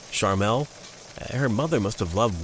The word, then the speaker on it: Charmel: The woman, Charmel Teague, I guess it's pronounced sort of like Charmin and Carmel combined. Charmel.